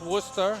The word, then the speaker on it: Worcester: with title contention four and three Julio Perez Worcester Massachusetts for anyone who doesn't live in this area not familiar with it it's pronounced Worcester you and me for now we pronounce this